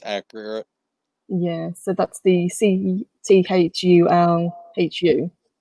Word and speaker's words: Cthulhu: supposed to be pronounced some people i think lovecraft himself said it's supposed to be it's supposed to be like clawful yeah yeah it's a guttural almost uh growling sound so it's not